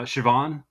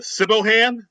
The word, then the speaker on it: Siobhan: It's it's that uh it's that uh Scottish name where it's spelled uh S I B Hen, but it's it's pronounced uh Siobhan. I mean, I'm sure people will be like, "Oh, is it a cibohan?"